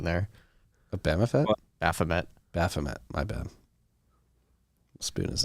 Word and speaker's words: Baphomet: So, the King of England putting Bamafet pictures in his portrait now. Had several comments in Nostr calling out your pronunciation there. A Bamafet? Baphomet.